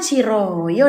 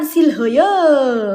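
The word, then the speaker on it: 싫어요: Pernah enggak kalian dengar kata Shilhoyo? Perasaan Siroyo deh. Iya enggak sih beb? Popu siroyo bukan silhoyo. Enggak ada tuh silhoyo.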